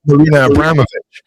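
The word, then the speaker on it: Marina Abramović: There's, how do we pronounce this woman's name? Woman, right? Yeah. Right? Marina Abramovich.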